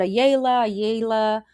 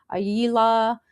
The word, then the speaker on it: Ayala: the show, you know, my last name is Ayala. Ayala, like if you say it right, you know, I've heard a yala aila. I've heard it so many different name, sorry, ways. and it's actually Ayala.